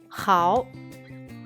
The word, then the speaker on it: 好: Hao, he, ao, con tercer tono. No olvides, la H se pronuncia como J en español.